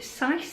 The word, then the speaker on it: Sise: it was by Katie Sise, I think that's how you say it, S-I-S-E. And this was sort of like a murder mystery type book, and it was really good.